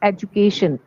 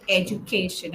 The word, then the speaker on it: education: But I call it education. J. Yes. So you're right in these two words, the last two, education and graduate, it is actually pronounced with a J.